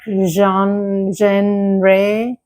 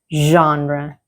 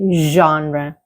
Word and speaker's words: genre: A lot of uh learners would say something like genre genre The correct pronunciation is genre Okay? genre Repeat after me. genre The first sound is very important. It is not a hard g like in go. It is a soft sound like in like the s in measure.